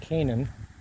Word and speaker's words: Canaan: I think it's pronounced Canaan.